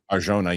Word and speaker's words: Arjona: Arjona, yeah.